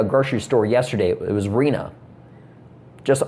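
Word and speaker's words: Rina: It was Reena. Just R I N A. Kind of like Christina, but Reena, she said her family wanted to do something different.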